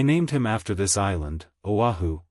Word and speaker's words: Oahu: start started I named him after this island Oahu pronounced oav the first gate he came to he started